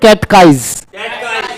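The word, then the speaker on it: catechize: अगर लिखने में दिक्कत है तो हिंदी में उच्चारण लिख लिया करो, कैट लिख के और काइज कर लेंगे, कैटकाइज।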